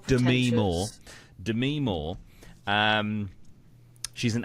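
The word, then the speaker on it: Demi Moore: name correctly because apparently this is how you pronounce It Dem Mo it's not Demi it's Dem Mo Demi Mo um she's an aging actress and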